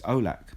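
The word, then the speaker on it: Aulakh: And so when I look at my surname, it's in two parts, and the first part is A-U-L, and the second part is A-K-H. So it's Olak, basically.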